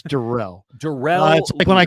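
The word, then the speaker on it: Darrell: get the fly swatter out for okay okay Daryl lutter D derell derell apologies derell lutter Jr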